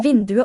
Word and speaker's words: vinduet: Er vinduet åpent? Er vinduet åpent? Er vinduet åpent? Vinduet. Vinduet. Åpent. Vinduet. Big two syllables, just a sequence of vowels there. Silent T.